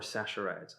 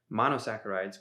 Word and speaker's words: monosaccharides: literature see for yourself monosaccharides or sassarites i never know if it's a hard c or a soft c